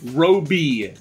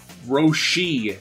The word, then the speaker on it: Roshi: What did I say? Robi. Say you're saying Robi, R-O-B-I. It's Master what? Roshi. And what am I saying? B-I. It's S-H-I. She.